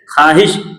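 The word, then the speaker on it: خواہش: उस तरह ख्वाहिश, यहाँ भी वाव क्या है?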